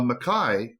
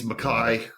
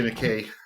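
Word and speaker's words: Mackay: and now it's Makai I say Makai I think it's Makai I don't know why I say McKay let's call the whole thing off all right Makai Makai yes Makai yeah probably the Scottish pronunciation and he was from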